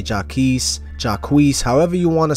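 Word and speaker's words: Jacques: pronounce Travis's real name in French it's jacqu which is where the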